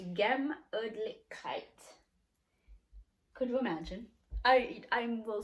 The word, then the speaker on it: Gemütlichkeit: It's pronounced Gemütlichkeit.